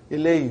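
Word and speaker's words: إلى: Right now, we say ila. It's pronounced as alif.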